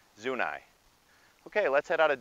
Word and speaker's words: Zuni: tribe zoo nice treat I understand the people are called Zuni but Denverites called a street soon I okay let's head out